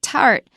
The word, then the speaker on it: 塔: There was never an impulse for me wanting to talk about them. So now you know how to say it. So egg plus third tone ta, and you've got it.